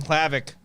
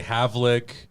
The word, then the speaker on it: Hlavac: here with clavic what do people say you said you were surprised clavic yeah they say havelik um i don't know